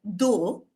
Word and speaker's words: though: Like OUGH, for example, in this word, though, it rhymes with go, right?